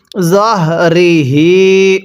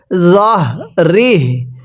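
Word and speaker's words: ظهره: জের রিহরি হাজের হি জহরিহি ওয়াকফ করলে জহ রিহি আমার সাথে পড়ুন জহ রিহ জ টা নরম করে হা টা উচ্চারণের সময় গলার মধ্যে আওয়াজ করবো জহ রিহ এরপরে আমার সাথে পড়বেন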